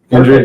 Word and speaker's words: Endrid: Endrid, yep. Okay, so almost like Madrid in a way, but without the MA.